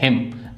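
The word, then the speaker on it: hymn: हिम भजन इसमें भी हमारी एन साइलेंट है।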